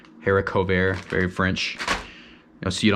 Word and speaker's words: haricot vert: is Eric over you can see there it's pronounced Eric ovair haricot vert very French now see it on a menu shear redneck you know like I'm half redneck you'll probably call it hair coat Burt I got my risotto here that's just leftover